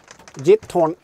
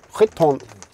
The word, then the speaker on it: Giethoorn: berätta en hemlighet för det gorn gorn som vi säger på svenska uttalas egentligen skorn på holländska då Och vet ni vad